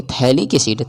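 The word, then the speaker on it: phthalic acid: तो इसको हम यानी साइलेंट होता है। उसी को हम लोग एब्सेंट बोलते हैं। यानी थैलिक एसिड हो जाएगा।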